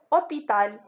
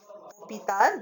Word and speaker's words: hôpital: Par exemple, moi j'ai écrit hôpital. Hôpital, donc le mot hôpital, dans le mot hôpital, il y a des lettres muettes.